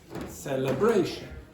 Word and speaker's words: celebration: So again, you have primary stress on the third syllable, red. You have secondary stress on the first celebration.